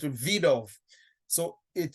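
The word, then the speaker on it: Wiedehopf: w is is um is pronounced as a v so it's a vid off so it sounds like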